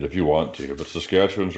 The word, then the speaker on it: Saskatchewan: that right yeah yeah okay and you're in saskatchewan and you said it right so you're the